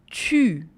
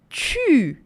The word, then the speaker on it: tu: Vous, tu. Todo mundo aí fazendo biquinho comigo, hein? Porque a letra U é o que causa o som do biquinho em francês.